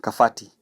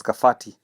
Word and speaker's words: Kabati: So initially in the old Kiku language letter B is pronounced as letter F and so for kabati they read it as kafati.